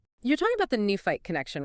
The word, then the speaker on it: Nephi: If you take the root name Nephi pronounced Nufi and you make it